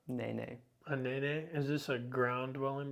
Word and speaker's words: Nene: A nene? Is this a ground dwelling bird? Or does it fly? I can't answer that with utmost confidence, but it's spelled N-E-N-E and it's pronounced Nene.